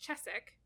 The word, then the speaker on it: Cheswick: point of saying oh it's pronounced chessick and so I was